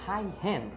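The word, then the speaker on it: Huygens: যে মহান বিজ্ঞানী হাইগেন আমাদের বইয়ে লেখা থাকে জিনিসটা আসলে ঠিক না, কারণ উনি একজন ডাচ বিজ্ঞানী আর ওনার নামের এই জায়গায় একটা হাইফেন হবে। তো অ্যাকচুয়ালি ওনার নামটা অনেকটা উচ্চারণটা এরকম হাইহেন, তো উচ্চারণ করাটা কঠিন বলে আমরা সহজে হাইগেন হিসেবে ধরে নিই।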